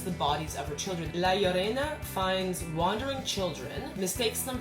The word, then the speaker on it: La Llorona: research and it says the double L is its own letter in Spanish and it's pronounced with a Y, and I'm assuming because it's Spanish the R is rolled, which is why I'm trying to say it that way.